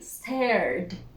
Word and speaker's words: stared: Last sound, voiced. We add the d and pronounce the d. Stared, stared.